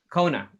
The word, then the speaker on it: Quona: That's how you pronounce Kona. Kona.